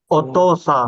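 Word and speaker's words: お父さん: Oto-san.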